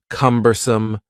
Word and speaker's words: cumbersome: is cumbersome the word cumbersome has three syllables and the stress is on the first syllable cumbersome cumbersome something that is